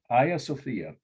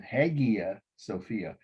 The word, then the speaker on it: Hagia Sophia: to take good notes this is um aya sophia whereas my hampton indiana would mispronounce it hagia sophia two words h-a-g-i-a sophia second word i s-o-p-h-i-a it means saint sophia